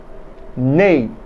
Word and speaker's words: nez: Nez means nose.